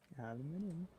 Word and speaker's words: aluminium: open the door that's how you're supposed to pronounce it aluminium does he have pants on too oh if